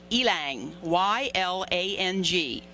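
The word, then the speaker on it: ylang-ylang: look it up to find out how to pronounce it it's ylang y-l-a-n-g ylang ylang yeah and uh just the natural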